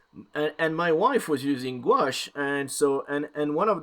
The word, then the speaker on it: gouache: It was like gawish, guish, quish, quish. I'm like, oh my god, it's gouache. But yes. Anyways, and my wife was using gouache, and so and one